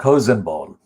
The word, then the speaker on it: Hosenball: philip agee and mark hosenball now that ball is spelled not like a pakistani or muslim hussein but hosenbal is h o s e n b a double l heisenberg mark hussein